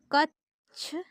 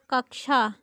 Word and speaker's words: कक्षा: कक्षा शब्द का शुद्ध उच्चारण है। कक्षा कच्छ कक्षा कक्षा तो इसका राइट ऑप्शन ए है कक्षा हमारा प्रश्न नंबर 10